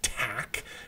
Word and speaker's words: Taq: something called Tac polymerase this is this is pronounced Tac with a taq in fact I think in